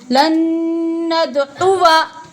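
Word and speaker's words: لن ندعو: लन्नत आइन पेश उ, फिर वाव अलिफ जबर वा नहीं पढ़ेंगे, वाव जबर वा, लन्नदउआ।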